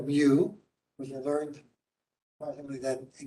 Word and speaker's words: mu: I I never with should I say it the right way which is me which no other mathematician